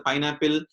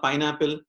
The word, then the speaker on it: PyNLPl: Generally people, if you want to pronounce this PYNLPL, it's called Pineapple. So we need to pronounce like this, Pineapple. When you go to their official websites, they will say about this, we need to pronounce it as the Pineapple only, which is also most